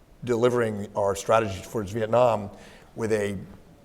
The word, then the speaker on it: Vietnam: and said young man it's not pronounced Vietnam it's pronounced Vietnam we need to show respect to these people and it was sort